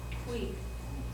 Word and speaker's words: qui: this word in it, how is that pronounced? Qui. Okay? Just like in English, whenever a U comes after a Q, it's going to be like this. Marked with a KW.